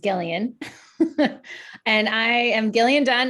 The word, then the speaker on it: Gillian: And I will choose Jillian. Hi, I'm going to trick you all. It's actually pronounced Gillian.